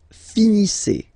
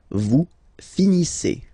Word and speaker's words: finissez: Vous finissez. Vous finissez. Okay, a Z at the end gives you the sound E. Okay, finissez, finissez. Vous finissez.